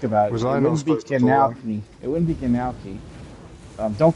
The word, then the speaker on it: gnocchi: It wouldn't be Gnocchi. It would be like Genalchi. like Genoa salami. Well, now you can put the nuts. I think it's just gnocchi. It is gnocchi. It's The G is silent. The G is like said like a Y.